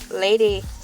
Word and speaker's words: ELA: It's me, LA. Pronounced like LA like the city.